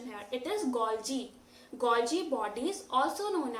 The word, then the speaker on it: Golgi: is called G body pay attention to the pronunciation here it is goji goji body is also known as Golgi apparatus